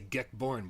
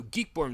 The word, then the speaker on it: Geekborn: I was about to say Geckborn with the $2, but he actually says in the tip. He says it's pronounced like geek. So Geekborn with the $2 tip says, GoFundMe donations must be at least $5.